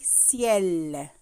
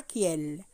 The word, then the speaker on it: ciel: Et C avec I, ça prononce si. Je dis ciel. Je dis pas kiel.